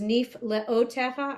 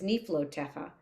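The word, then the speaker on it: נִפְלְאוֹתֶיךָ: I also never knew it was Nif Leotecha. I always ran it together as Nif Lotecha.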